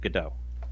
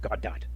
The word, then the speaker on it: Godot: an open source language like Godot and or goddot if you want to pronounce it retardedly uh I have tremendously